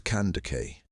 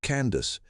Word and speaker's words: Kandake: The title was cand. Greeks and Romans whose languages bent every foreign word into something they could pronounce called it candas.